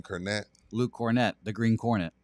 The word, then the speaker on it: Kornet: Cornette. Luke Cornet. The green cornet. Yeah. He says, "I've been disrespectful. We're going to love him." Except that's not how you pronounce cornet.